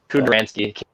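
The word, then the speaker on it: Kudranski: And how do you pronounce that name? Because I butcher it. Kudransky. Kudransky? Kudransky.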